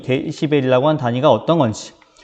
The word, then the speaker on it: dB: 그러면은 이 데시벨이라고 하는 단위가 어떤 건지. 자, 이 dB라고 쓰고 데시벨이라고 읽는데요.